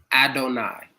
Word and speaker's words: Adonai: I think it's pronounced Adonai because it means God.